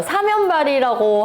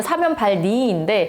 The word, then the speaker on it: 사면발니: 벌리는 병이 하나 있어요 사면발이라고 하는 벌레거든요 정확한 발음을 사면발니인데 목욕탕에서도 옮을 수 있어요